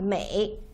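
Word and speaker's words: 梅: the character is pronounced May okay just listen May and the character the total the the this this character itself uh it's pronounced May so basically the same pronunciation right except for the tone and by the right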